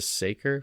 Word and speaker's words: Saker: Is it pronounced the Saker falcon? Yeah. Saker.